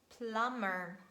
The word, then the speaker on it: plumber: And letter B is silent when it stands at the end of words and it is preceded by letter M. So letter M stands before letter B. And we read comb, thumb, numb, limb, lamb, climb, and its derivative climber, plum, plumber.